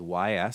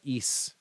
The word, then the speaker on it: Ys: It's spelled YS. So if you've ever seen a game series that has like a big Y and an S, it's not Y's, it's not E's.